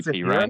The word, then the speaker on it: Samaje Perine: It is actually Samaje Perine. Perine? Yeah, I'm not mispronouncing Is it that. It's actually Perine.